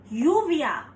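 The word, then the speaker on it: lluvia: go with another example Double L is pronounced as y so the word yuvia means rain you v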